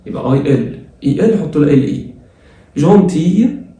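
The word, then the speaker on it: gentil: جونتي ال بتتنطق اون جونتي كده ال ما بتتنطقش جونتي وحلو.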